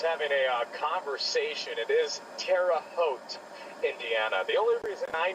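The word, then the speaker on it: Terre Haute: It is Terraote, Indiana.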